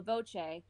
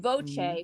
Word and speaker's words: Voce: term in italian and voce for my name is spelled v-o-c-e just one this voice but it's singular not voices it's a voice so i'm like bella